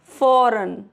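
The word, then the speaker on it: foreign: आई के बाद अगर जी है तो वहां पर भी जी नहीं पढ़ा जाएगा। जैसे sign डिजाइन फॉरेन clear next rule है एच इज़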